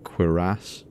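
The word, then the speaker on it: cuirass: of armor is pronounced queerass why did you say it like that no because it's it's like french originally so it has a it has an emphasis on the last syllable queer ass at least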